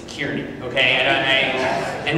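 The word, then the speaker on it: Kearney: to see it's not it's not Carney folks it's Kierney okay I don't I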